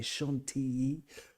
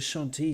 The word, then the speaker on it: Chantilly: You sort of pronounce the double L as a Y. Chantilly, like Bastille doesn't exist in French.